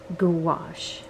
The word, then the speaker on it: gouache: Ooh, oh, gouache. How do you say that? Gouache. I keep wanting to call it goulash.